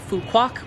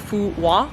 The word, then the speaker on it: Phú Quốc: In fact, the name of the island, a lot of English speakers pronounce the island Fuquac, because that is kind of how it's spelled from an English-speaking mindset, quo, we would say Quac or something along those lines.